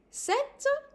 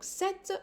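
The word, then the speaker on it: sept: as an S sis set seven no set the P here is silent then we have two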